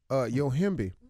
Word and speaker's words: Yohimbe: Yohimbe. So happy you pronounced that properly.